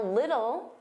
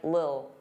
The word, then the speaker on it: little: Now little, native speakers, including me, generally pronounce the T's as soft D's. Little, little. Some native speakers really reduce this word and it just sounds like lil, lil, get a lil, get a lil.